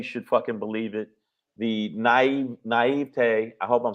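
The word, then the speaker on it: naïveté: The naivete, I hope I'm saying it right. Pedro, you fix me. You went to college. Naivete.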